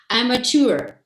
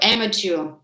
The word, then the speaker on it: amateur: And also there is a very interesting pronunciation, amateur. So amateur.